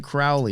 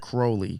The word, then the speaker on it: Crowley: He was saying Crowley, not Crowley.